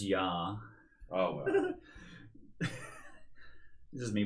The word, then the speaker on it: Jahres: Did I say it wrong? It's just Yar.